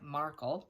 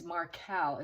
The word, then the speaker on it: Markel: incorrectly before Dan Markell it looked like Markle it's Markell it's a pronunciation uh